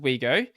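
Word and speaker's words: Ouigo: including train operator uh sn cf's brand wego pronounced wego along with the straightforward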